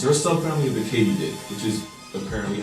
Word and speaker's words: katydid: They're a subfamily of the katydid, which is apparently how you pronounce it.